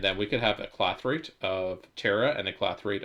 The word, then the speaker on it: clathrate: Oh yeah, we made our thing that makes the clathrades. Clathrades? How do you pronounce this word again? Clathrate. Pronounce. Yeah, clathrate.